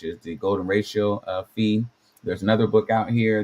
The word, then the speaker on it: Phi: started from the beginning, the pronunciation is supposed to be F-E-E, which I would think that says phi. Could be Fe, but I definitely don't think that sounds like pi, which is the ratio